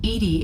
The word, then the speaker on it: EDI: the medical bay why are you named edie edie is the phonetic pronunciation of edi that is an acronym for